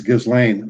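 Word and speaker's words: Ghislaine: I think it's Ghislane Maxwell.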